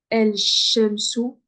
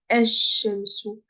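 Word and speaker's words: الشمس: Donc à chaque fois que vous voyez une shadda, ne dites pas El Shemsu, mais dites Esh Shemsu.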